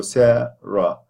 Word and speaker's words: Sarah: And Sarah has 2 syllables, sa and then ra, and the stress is at the beginning of the first syllable. So Sarah. So the at the end is a schwa. Ashwa is not tense, it is lax.